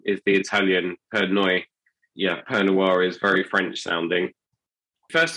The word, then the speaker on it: Pernoire: right exctly yeah well it's a French fantasy word and so it's pronounced French perir but basically it is